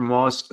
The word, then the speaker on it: MOA: Anyway, okay, the breeding system for MOAS sounds quite, hopefully I'm saying that right, sounds quite complex. MOA. Oh, S is silent. Okay. Or MOAs, it's just plural.